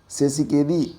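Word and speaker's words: Tshisekedi: केदी ये याद रखना फेलिक्स सेस केदी इतना भी याद रखेंगे तभी चलेगा क्योंकि टी इसमें साइलेंट होता है कांगो की राजधानी के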